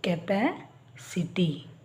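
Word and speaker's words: capacity: ಪಿ ಎದು ಸಿ ಟಿ ಸಿ ಮುಂದೆ ಐ ಬಂದಾಗ ಅದರ ಉಚ್ಚಾರ ಸ ಅಂತ ಅಂತಾನೆ ಆಗುತ್ತೆ ಸೋ ಇಲ್ಲಿ ಎ ಬಂದಿದೆ ಕ ಉಚ್ಚಾರ ಇಲ್ಲಿ ಐ ಬಂದಿದೆ ಸ ಉಚ್ಚಾರ ಕೆಪಾಸಿಟಿ ಈಗ ಎಸ್ ಟಿ ಆರ್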